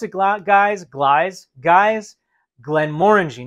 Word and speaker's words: Glenmorangie: glass of Glenn Mory and that's how you pronounce it GL guys Glide guys Glenn Mori not Glenn mangi not Glenn morangie Glenn Mori Marie bazard a wonderful family of